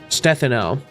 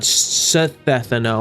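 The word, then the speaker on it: Stheno: It's It's Sino with a soft th by the way. Stethano, not Sethano or however I was pronouncing it.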